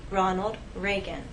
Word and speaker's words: Ronald Reagan: The correct pronunciation is President Ronald Reagan.